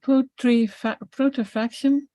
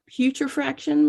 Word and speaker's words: putrefaction: So there is so much, I always have trouble pronouncing this word correctly. It is putrefaction. Say that for me, Sarah. Putrefaction, maybe? Putrefaction.